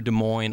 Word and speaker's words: Des Moines: Anyways, I was coming down through Des Moines. I basically made stops all the way across Pronounced the Des country.